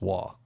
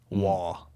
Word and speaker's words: Roy: Patrick Roy. No, it's Waugh. Really? Mm-hmm. It's French Canadian, man. It's actually if you were to roll the R, that would be the correct pronunciation of it, but I can't do that.